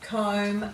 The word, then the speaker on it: comb: so let's read these words with lamlam bomb comb dum num climb crumb some plumber there's not